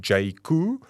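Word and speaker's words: Jaecoo: coming of course J spelled j AE couo pronounced J C um yeah over to sha so jaku is basically excuse me it's basically their off-road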